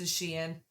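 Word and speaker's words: Shein: I've heard it pronounced sheen.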